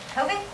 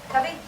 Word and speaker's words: Cubby: Kobe. Cubby. One more time. Cubby. Kobe. Cubby. Cubby. Kobe. Thank you. There's two two ways to pronounce it. My family pronounces it cubby.